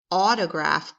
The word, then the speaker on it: autograph: had to get an autograph book so we can hear the off sound at the beginning of the word autograph autograph is where someone